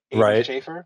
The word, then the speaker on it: Aidan Shaffer: Is it is it pronounced Aiden Schaefer? Is that correct? Yeah, I go by Aiden.